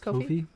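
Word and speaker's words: Ko-fi: up on my uh Kofi I think it's pronounced coffee yeah Kofi um so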